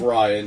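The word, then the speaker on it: Rian: It's Ryan, yeah.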